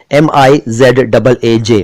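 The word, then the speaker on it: मिज़ाज: इसको कई लोग मिजाज कह देते हैं और मिजाज कह देते हैं। उर्दू बोलने वाले भी बहुत से लोग इसको मिजाज कह देते हैं, मिजाज नहीं है दोस्तों, ये मिजाज है, पहले जेड फिर जे, MIZAAJ, मिजाज।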